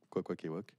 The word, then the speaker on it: Kwakwaka'wakw: Dans la BD, vous verrez, il n'y a que des K, des W, des A et des apostrophes, et ça se dit Kwakwaka'wakw.